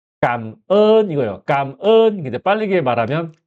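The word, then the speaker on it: cảm ơn: 그래서 발음은 감은 이거요. 깜은. 이제 빠르게 말하면 까은 내가 예를 들어서 호텔에 가잖아요.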